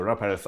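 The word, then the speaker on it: Raúl Pérez: So Ra Perth up in Galithia is an iconic wine maker. He is that's excellent pronunciation by the way.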